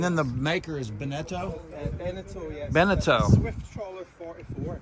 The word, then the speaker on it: Beneteau: How do you pronounce the name of this? Bojangles. Bojangles. And then the maker is Beneteau? Beneteau, yes.